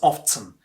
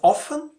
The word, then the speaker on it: often: Second word in today's list, often. Yes, you heard it right, often. You must be thinking, oh, is it not often? Yes, it is often too. So this word can be pronounced in two different ways, often or often.